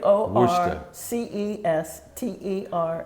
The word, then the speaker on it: Worcester: Worcester. Wo R C E S T E R. And they it's pronounced Worcester.